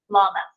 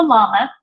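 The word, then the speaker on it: למד: And so We have Aleph, Beth, Gimel, Dalet, Hey, Wow, Zion, Hey, Tape, Yod, Kaf, and then the next letter, Lamed.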